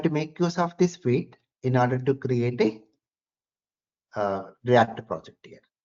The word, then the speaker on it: Vite: So by using this Vite, we call it as Vite, the pronunciation.